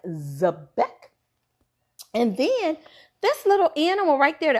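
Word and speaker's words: xebec: And you say it like Zebek.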